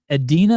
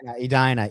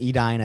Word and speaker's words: Edina: Um this is in Adena, Minnesota. Edina Edina is how you pronounce that.